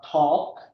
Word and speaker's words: talk: you there building and then uh talk so when you say talk uh actually you shouldn't mention the L one the the the